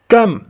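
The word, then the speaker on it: comb: سر د ګمنځولو برش کم کم بی په دې ځای کې بی نه تلفظ کیږي کم ګمانځ arm chair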